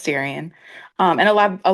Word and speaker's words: Darian: Also, let me know if you if I'm pronouncing your name correctly. Yes, you are. It's Darien.